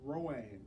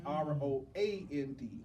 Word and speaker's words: Round: Round One is pronounced round, but it's really pronounced Roand. It's Roand.